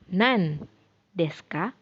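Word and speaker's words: なんですか: Tapi kalau misalkan disambungkan dengan deska bukan nani dibacanya, tapi jadi nan deska, nan deska.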